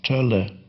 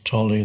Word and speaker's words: Tolle: Now I'm giving a talk on the O without the two dots is pronounced O, and the O with the two dots is pronounced Ö, which sound does not exist in English, but exists in German and Scandinavian languages. So that name then should be pronounced Tölle. Tölle.